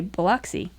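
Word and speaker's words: Biloxi: So 20 years with Baloxy, let me say it right. My southern friends would say Beluxy, Mississippi after a hurricane and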